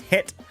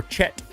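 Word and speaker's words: חית: It's pronounced het or chat. It's represented in it represents the guttural ch or probably actually sound like in bach.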